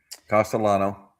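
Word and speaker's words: Castellanos: Let's just start with the elephant in the room, Castellano. Castellano. But some people don't pronounce the L, I guess.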